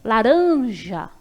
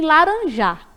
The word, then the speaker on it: laranja: E a tônica vai ser uran, porque quando eu pronuncio, eu demoro mais nela. Ó. Laranja, né? Eu não digo laranja e nem laranjar. É laranja.